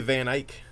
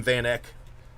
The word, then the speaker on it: Van Eyck: And CJ Van Eyck. I called him Van Eck, but I went and watched some of his videos, so I knew how to say his name.